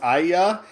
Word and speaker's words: Aya: Yeah, it's just you really have to make sure you pronounce Aya, cuz it kept sounding like you were saying and I.